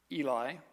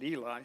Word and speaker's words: Eli: Remember, we left off, there had been a prophet who came to Eli is how it's pronounced, but everybody calls it Eli, so I'm going to switch back and forth.